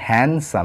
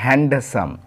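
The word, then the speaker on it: handsome: এটার উচ্চারণ কিন্তু হবে হ্যান্ডসাম এখানে ডি কিন্তু সাইলেন্ট থাকবে নট হ্যান্ডসাম হ্যান্ডসাম সুদর্শন একটা যুবকে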